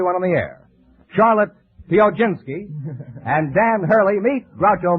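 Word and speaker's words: Piechocinski: Charlotte, how do you pronounce your name? Pioginski. Would you mind spelling it? P-I-E-C-H-O-C-I-N-S-K-I. Now pronounce it again. Pioginski.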